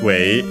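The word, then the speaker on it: は: Ha again is the pronounced as wa in this case because it's the topic particle.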